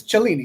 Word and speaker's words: Cellini: mispronounced my own name technically it's chelini it's Italian but I don't say it that way um can you explain